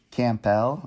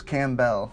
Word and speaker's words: Campbell: and richard grove how did we used to pronounce his name ty didn't we say kampell or something bruce campbell campbell soup but i always knew that but i just assumed his name was cam bell because it's not is this spelled the same